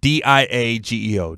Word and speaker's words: Diageo: I'm sure I'm mispronouncing it. D-I-A-G-E-O, Diageo, to acquire high-end tequila brand De Leon.